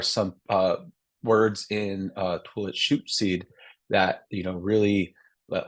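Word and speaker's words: Lushootseed: in my right now as I'm pronouncing toilet shoy that's kind of a um a more Americanized way of uh pronouncing it but it's more like like so it's like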